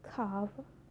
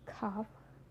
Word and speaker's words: calf: So the letter L can be silent too. It's quite common when you look to example, like could, should, talk, walk, york, half, calf, salmon.